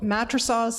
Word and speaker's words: Matrosovs: Well, Matrosovs is Latvian, so if you can pronounce my name, you're now speaking Latvian.